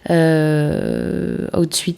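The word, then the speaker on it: Hootsuite: Outsuite, ça s'écrit H-O-O-T-S-U-I-T-E et Buffer, ça s'écrit B-U-F-F-E-R.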